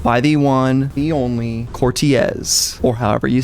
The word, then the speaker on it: Corteiz: covering a drop by the one the only cortiz or however you say it let's get into it all right let's hear it so that's from the the pronunciation Channel Cortez Cortez I like it because you say yeah some